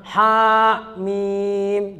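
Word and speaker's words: حم: Jangan ha, mim, jangan. Bacanya cuman begini aja, ha, mim, ya kan?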